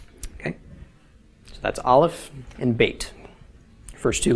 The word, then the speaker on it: aleph: the sound of the aleph first, and then the sound of the vowel. Okay, in this case, aleph is silent, so it makes no sound.